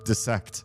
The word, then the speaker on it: dissect: Learned dissect. It is. For those of you that think this word is pronounced die, note the double L, or double L. Note the double S.